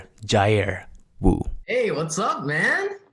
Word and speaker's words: Jair: It's pronounced Jair.